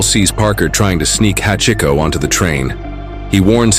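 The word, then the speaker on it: 八: He notices the number 8 on the collar, which in Japanese is pronounced Hachi.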